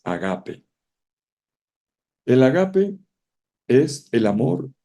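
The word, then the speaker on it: ἀγάπη: padre el ágape dije no ágape no agape en griego porque usted no dice el dice el caballo la pronunciación correcta es agape el agape es el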